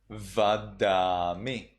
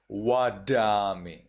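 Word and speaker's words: vadāmi: So in Sri Lanka, you would read this as Vadami. In Burmese, you read it as Wadami.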